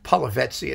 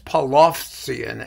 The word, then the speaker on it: Polovtsian: Because no one really knows how the Polovetsian, it's Polovtsian, actually. But, you know, it usually comes out sounding like Polovetsian.